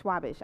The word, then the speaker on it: Schwabish: saying your name correctly schwabish schwabish I said it right okay like Charles Schwab but not quite okay is see that's